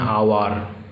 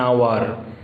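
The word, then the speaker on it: hour: কি আসছে প্রথমে আ তাহলে কি হবে আ উচ্চারণ হলে কি করতে বলেছি এন অ্যান আওয়ার হলো তোমরা কিন্তু যখন দেখবে এটা কনসোনেন্ট দিয়ে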